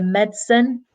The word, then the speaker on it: medicine: but medicine medicine or sometimes we remove the I in the middle and just say medicine in the pronunciation and that's as Liam